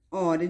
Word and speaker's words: hora: Isso porque a letra H é muda, ou seja, não tem som.